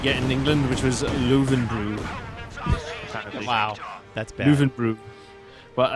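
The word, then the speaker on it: Löwenbräu: In America, everybody just calls it Lowenbrow. That's our way to slaughter the pronunciation.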